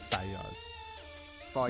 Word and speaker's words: Fayyaz: Oh my God, how do you pronounce it? Like actually, Yes. Fayyaz.